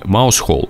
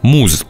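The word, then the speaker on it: Mousehole: заключенное в разных названиях название деревни маус холл произносится как муж название деревни переводится как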